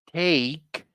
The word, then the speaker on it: steak: it has salads sandwiches steak and more go ahead good good be careful with the pronunciation of this word okay repeat after me steak take what's steak it's beef